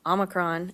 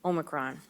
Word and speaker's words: omicron: the omicron variant actually there's two different ways of pronouncing that i looked it up there's uh the american version which is omicron and there's the british version which is omicron while we don't yet